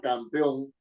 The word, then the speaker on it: campeón: Si yo digo la palabra campeón, tengo 3 sílabas. Campeón. La fuerza de la sílaba, la mayor fuerza de la sílaba, está en la última. On.